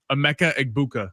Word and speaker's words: Emeka Egbuka: Emeka Egbuka.